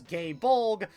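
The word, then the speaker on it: Gáe Bolg: more modern Fate stuff, they made sure to pronounce gay bulg as gay bulg so people can avoid making the many the many homosexual phallic jokes out of it.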